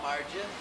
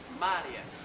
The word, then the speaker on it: Maria: finished and beautiful hello Mar Brad's dad greeted her is that how you pronounce your name she smiled her teeth were straight Brad noticed no it is pronounced Maria Brad's Dad tried to